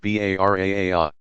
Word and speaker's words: Bara'ah: On the 15th of Shaban, many Muslims, especially in South Asia, observe the night of forgiveness, Laylat al-Bara'ah, pronounced Bara'a.